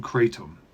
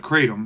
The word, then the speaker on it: kratom: of a substance called katum ketam however you want to pronounce it I call it katum and that's what I'm